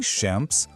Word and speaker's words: Champs: Então, para a gente resumir e não esquecer mais, em Champs, o som an é nasal.